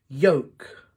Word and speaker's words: yolk: back close zip up silent L talk walk half salmon calm yolk can you think of